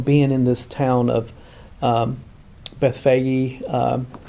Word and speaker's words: Bethphage: We talked a little bit yesterday about him being in this town of Bethphage. Often, we translate that into English as Bethpage.